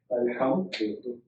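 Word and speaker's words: الحمد: Now, what happens when you put alif lam on alhamdu? How do you pronounce it? Alhamdu. Excellent.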